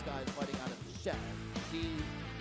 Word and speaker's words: Shanxi: We are in Shanxi, and this guy is fighting out of Shanxi. Pronunciation is slightly different. You got to add the extra A there, right? The one is Shanxi, and the other one is Sha'anxi.